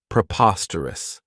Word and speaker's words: preposterous: This adjective has 4 syllables, and the stress is on that second syllable, preposterous. Remember that OS has that schwa, that sound. This means that something is contrary to reason.